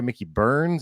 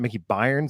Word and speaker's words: Mickey Burns: at uh Mickey Burns apparently I've been saying it wrong so sorry Mickey Burns it's not Mickey byn like I've been saying over and over for six months like a freaking idiot Mickey Burns Irish Pub